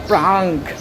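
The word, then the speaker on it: prank: ওইখানে যে একটা বাচ্চা দেখছেন, এই বাচ্চাটা বলতেছে আমি প্যাং করছি, প্যাং, কিন্তু উচ্চারণ হবে প্রাঙ্ক।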